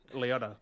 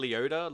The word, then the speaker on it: Liotta: Ray Liotta. Liotta. Ray, I Liotta. butchered Liotta. the name. Liotta? God I always say damn Leota. Leota. I'm like, what? Liotta.